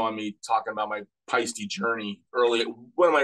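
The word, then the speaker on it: Paiste: feisty symbols or pasty how do you say it what's the correct it's feisty feisty that's all I've always said it and then I always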